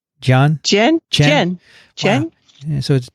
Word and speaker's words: Dian: And so that's where that other word that Kathy played for you, how is that pronounced? Jen.